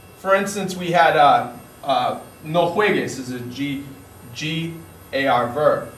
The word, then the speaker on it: juegues: So, for instance, we had no juegues is a G-A-R verb. We have to add a U in there to make that hard G sound happen.